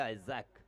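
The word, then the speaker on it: Isaac: हालांकि इसाक का pronunciation English में कहा जाता है आइजैक, क्योंकि सर वीव रिचर्ड का नाम आइजैक वीव रिचर्ड है। और कहीं कहीं पे मैंने बहुत मर्तबा इसाक लिखा हुआ देखा और कहीं कहीं पे आइजैक लिखा हुआ भी देखा। ये एक प्रोनाउंसिएशन का फर्क।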